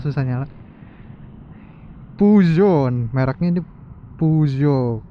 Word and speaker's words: Peugeot: Puzon mereknya ini Puzo. Katanya kalau dibacanya gitu sih Puzo. Cuma kalau bahasa Indonesia PU Geot.